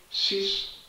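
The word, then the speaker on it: cis: eine Abkürzung vorgesehen, und zwar c i s von phi. Cos phi plus i sin phi schreibt man kürzer sis phi.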